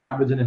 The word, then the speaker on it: Carbogène: Vous êtes le dirigeant de Carbogène. Est-ce que l'on dit bien comme ça? Je prononce correctement ou pas? Carbogène M6, absolument.